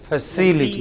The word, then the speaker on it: facility: Not facility. It is facility.